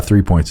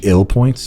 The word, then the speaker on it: III Points: People think uh three points is three points. It's actually ill points.